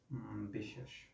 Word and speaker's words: বিশ্বাস: উচ্চারিত হবে এটাই নিয়ম যেমন বিশ্বাস এটার আমরা যখন উচ্চারণ করি তখন উচ্চারণ করি যে বিষ এবং শ্বাস বফলার নিজে উচ্চারণ হয় নাই কিন্তু তার সঙ্গে দুইবার উচ্চারণ করাইছে এটাই হচ্ছে নিয়ম তাহলে